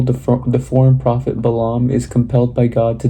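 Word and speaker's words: Balaam: So basically in the last chapter we ended with um so it's pronounced Balam is his name and Bok Balam is basically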